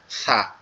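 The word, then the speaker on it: ث: আর যেটা কালো দাগ দেওয়া আছে এটা হচ্ছে সা। তা এখন এই নিচের তিনটা হরফের আমরা উচ্চারণটা একটু খেয়াল করি।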